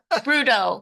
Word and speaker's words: Broodo: one we want to drink a beer yeah brudo brudo beer deer I love it drink the